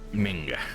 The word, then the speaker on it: Menge: Commander of the Temple Guard, Caleb Menge. Menge, that's how you say it.